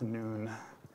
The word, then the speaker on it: Nun: Joshua the son of nun he didn't have a father he didn't it's actually pronounced noon in Hebrew it's Joshua the son